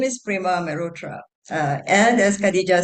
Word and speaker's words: Prema Mehrotra: Am I pronouncing your name right? Absolutely, Prema Mehrotra, and it is entirely my pleasure to be here with you, with all of you.